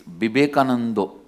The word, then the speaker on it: Vivekananda: Because in Bengal all the A will become O. In Bengali it is never Vivekananda, it is Bibekanando.